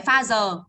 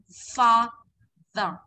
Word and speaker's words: father: Không phải pha giờ mà là môi răng này. Father.